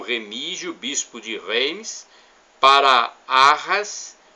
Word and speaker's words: Arras: bispo de Reims, para Arras, França, ou Arras, né? França, normalmente a sílaba tônica é a última.